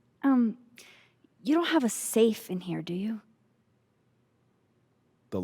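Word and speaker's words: Saiph: another strange question um you don't have a safe in here do you the Locking kind no are there non-locking safes well for a second I thought you're asking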